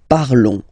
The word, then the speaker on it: parlons: Nous parlons, okay? Remember, final S is not pronounced, okay? And then this on together, they will give you the sound on, okay? Nous parlons, all right?